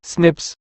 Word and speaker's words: SNPs: single base DNA differences snps single nucleotide polymorphism pronounced as Snips occur in humans this